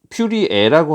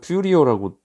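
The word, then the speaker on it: Fourier: 그래서 이름이 영문명에 따라 어디는 퓨리에라고 하는 거는 이제 프랑스식 발음이고 영어식 발음은 퓨리어라고 보통 읽거든요.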